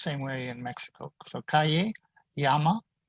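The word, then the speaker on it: llama: same way in mexico yama that's how the double l is pronounced exactly like a y in with a tilde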